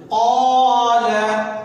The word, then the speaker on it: قال: قال قال. لا کو قاف کو کھینچیں گے، لا کو جلدی سے. قال قال. قاف الف زبر قا، لام زبر لا.